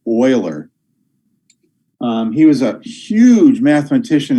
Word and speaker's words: Euler: for a guy's name his name which is pronounced euler not euler it's pronounced euler he was a huge mathematician in the 1700s